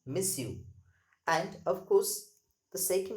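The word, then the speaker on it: monsieur: yum and mma so this young stands for mr you can say miss you that is miss you remember the pronunciation miss you and of course the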